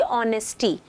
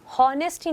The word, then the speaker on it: honesty: तो ऐसे बहुत सारे शब्द हैं, जैसे कि ऑनेस्टी, तो हम हॉनेस्टी नहीं बोलते, जबकि उसकी वर्ड को हम देखें तो HONESTY उसकी स्पेलिंग ये है इस वर्ड की, तो वहाँ हम क्या बोलते हैं, ऑनेस्टी, H साइलेंट होता है.